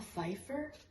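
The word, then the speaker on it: Pfeiffer: feifer micher why does that sound wrong Michelle Fifer there's that one song that's like closest thing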